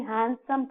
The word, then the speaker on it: handsome: That film star is a very handsome person. No, we should not say in that way. Here, the D is silent.